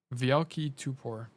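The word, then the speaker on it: Wielki Topór: Actually, also my nick is pronounced VL key toe or ta Tupor, which means big axe. Okay, cool. Vielki Tupor.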